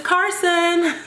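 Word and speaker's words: Karsyn: But her name is, drum roll, her name is Carson.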